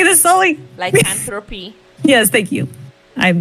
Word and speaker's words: lycanthropy: Lycanthropy.